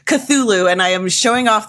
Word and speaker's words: Cthulhu: In her free time, she plays Call of Cthulha and is a proud letterboxed addict. Courtney, welcome to What the Friend. Hi, thanks for having me. Absolutely. And of course, I butchered Cthulhu and I am showing off that I don't know games.